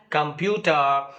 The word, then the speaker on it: computer: you speak the word computer you know it has three syllables come Pew but when you speak it in actual speech generally PE the second syllable is stressed so you say computer computer okay so Pew